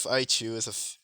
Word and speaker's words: Aichu: Piper is like same with Aichu was how her name is pronounced. The other one, her name is pronounced Aichu, if you all were wondering.